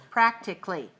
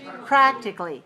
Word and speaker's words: practically: looks like this practically if it's three two it's like this particularly so which one is right practically or particularly practically stress the first syllable on this word practically practically good do you see a syllable that's reduced to nothing do you see a vowel that doesn't speak of mute vowel the a right lots of times when